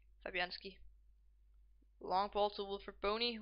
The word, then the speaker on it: Fabianski: How do you pronounce his name? Fabianski.